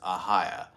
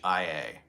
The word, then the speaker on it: Ohio: But one thing you have to know, the correct pronunciation of the state is Ahia. It's Ahia.